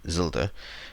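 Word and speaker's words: zilde: list which is called zelda because it is a combination of a zero and the character tilde and you pronounce them together as zelda and it basically means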